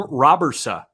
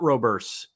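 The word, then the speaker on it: Robberse: I've got the pronunciation, according to Baseball Reference. Sem Robersa. It's not Roberts. Robersa.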